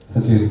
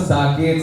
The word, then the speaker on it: सचेत: वैसे बहुत साकेत, संचेत, सुचेत, पता नहीं क्या क्या है, बट वैसे सचेत।